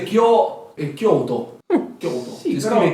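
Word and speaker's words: Kyōto: Quindi è Kyoto. Kyoto. Sì, Si però, scrive Kyoto. però comunque ricordiamo che si legge Kyoto. senza la O. Semplicemente quell'allungamento fatelo sentire proprio leggero. Cioè non è Kyoto, è Kyoto. Kyoto.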